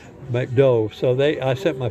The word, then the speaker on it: McDo: They don't pronounce the last letters, McDove.